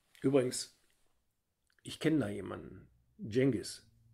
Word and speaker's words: Cengiz: ich kenne da jemanden cengiz das c wird wie die ausgesprochen und das z wie ein weiches es aber das hat mir